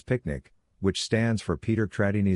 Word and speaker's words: PQNK: PQNK PQNK to be pronounced as picnic which stands for Peter Trini Zamashadakiari and means the regenerative and sustainable pristine organic farming system.